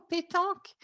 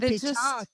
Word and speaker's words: pétanque: Yeah, no, pétanque. Oh, pétanque.